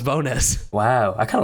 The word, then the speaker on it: Bones: tell you say again ricky bonus it wasn't bones no it's pronounced bonus wow i kind of like that more yeah